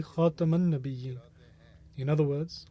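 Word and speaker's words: خاتم النبيين: my sons to say Khatiman Nabiyyin, rather teach them to say Khataman Nabiyyin. In other words, with a fatha, a diacritical mark above the letter ta, as opposed to a kasra underneath it.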